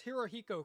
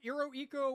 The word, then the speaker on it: Hirohiko: They wouldn't really be able to pronounce Hirohiko correctly. It'd sound something like Iroiko or Eroiko.